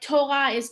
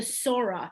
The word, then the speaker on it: Torah: you see a tough it's a t like torah the word torah has a dagesh which is why no one ever says the sora that's just not never